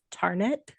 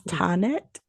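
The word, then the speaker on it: Tahnet: h NE t as tarnet like there's no R anywhere in there because it's tonet right tet that's why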